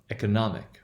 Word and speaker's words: economic: The o there in the second syllable, it is not stressed, right? It would be a schwa.